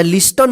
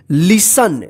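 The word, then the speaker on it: listen: इसको ठीक है ना या लिस्टन मत पढ़िए क्या पढ़ेंगे इसको लिसन लिसन का मतलब होता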